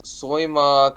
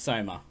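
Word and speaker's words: Sohma: So this guy also voices Soima Kagura in the 2019 version of Fruits Basket. It's pronounced Soma.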